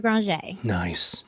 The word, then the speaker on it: Granger: We go by Granger, but since Toujours is French our name actually used to be pronounced French, so we just, lay it on thick.